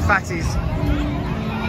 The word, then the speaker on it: Phattys: I'm heading towards the fatties sports restaurant fattest restaurant spelled with a pH not an F M on the way